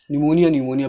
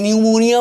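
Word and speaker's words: pneumonia: निमोनिया पी न्यूमोनिया मत बोलिएगा इसको, निमोनिया है, पी साइलेंट रहता है भाई, ठीक है।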